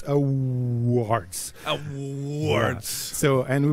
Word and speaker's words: Awwwards: It's a www. It's Awwwards. And it's super easy to pronounce for me.